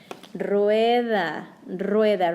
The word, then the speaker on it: rueda: Rueda, rueda, roll your R.